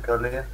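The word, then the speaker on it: Calais: Все, кто в ЕТС катают, все знают, что это Калаиз город называется, а не Кале. Кале. А он Калаиз на самом деле. Ну читается он Кале.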